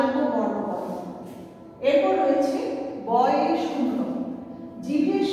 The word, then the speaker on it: বাংলা: কিন্তু যখন আমরা এটি উচ্চারণ করব তখন এটি ও এর মতো উচ্চারিত হবে।